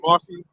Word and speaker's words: Marcion: Yeah, Eusebius and Yeah, Marcion.